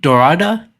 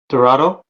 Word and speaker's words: Dorado: Of course, Okada, the champion, versus Te Tida versus uh is it Dorada? Is that how you pronounce it? Dorado. Dorado, excuse me.